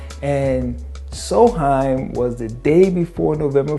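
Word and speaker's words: Samhain: festival called soulheim it's spelled s-a-m-h but it's pronounced so high and soheim was the day before november 1st where they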